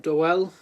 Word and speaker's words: Doel: um Frank do do doell I think it is it's it say it's like pronounced like Noel um I think it's